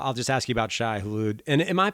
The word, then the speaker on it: Shai Hulud: but uh well i'll just ask you about shy hulu and am i pronouncing that correctly shy hallude yeah yeah absolutely okay uh it's a [